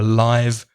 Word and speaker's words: live: adjective it's live so the vowel sound changes live very short live very long a live concert so live music is